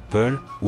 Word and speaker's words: Pullo: localité par exemple au Burkina Faso ou encore pull ou encore prononcé poulos pluriel Fulbé dans d'autres endroits les